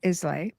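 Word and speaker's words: Islay: Um, on the aisle of Isla No. Probably didn't say it right because I I don't have the accent. Well, I is is pronounced. Okay, perfect. It's got a silent s.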